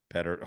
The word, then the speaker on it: Petr: Dynamo Pardubice hockey team owner Petr Petr is do they go if someone's name is spelled Petr, do you call him Peter or Petter? Peter? They go better. Petter.